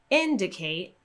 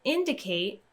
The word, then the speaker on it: indicate: answer in the word indicate we see that we have an ate ending when you see an ate ending we're going to stress the syllable two syllables before that ate ending so we have the